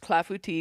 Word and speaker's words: Clafoutis: And it is the Clafbouti. It's a cherry fla and um it's a French dish as you can tell by the name, which it that is how it is pronounced. Clafbout tea because I have looked this up repeatedly to